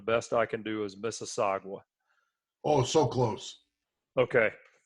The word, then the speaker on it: Mississauga: And it starts with an M, and the best I can do is Mississauga. Oh, so close. Okay. Mississauga.